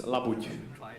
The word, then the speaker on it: labuť: It's labuť. Okay, let's hope this is an easy swan, right? Patrick, are you ready? Okay. And guess what it is? It's a whole milk labuť, or swan.